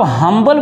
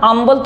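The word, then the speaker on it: humble: थोड़ी बोल रहे हैं इसको आप हम्बल बोल रहे हो ना आंबल थोड़ी बोल रहे हो इसको हमिलिएशन बोल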